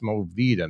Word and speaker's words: Mo Vida: It's Mo Vida, not Vida.